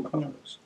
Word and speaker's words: Krnos: It's still Krnos. Oh, the O is silent.